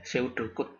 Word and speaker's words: pseudocode: Jadi bacanya P-nya dihilangkan aja lebih enak ya, pseudocode ya.